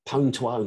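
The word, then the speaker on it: Pwn2Own: been looking at the pone to own and that is the correct way of pronouncing i don't care what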